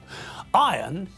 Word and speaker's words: iron: Iron is pronounced iron, not iron.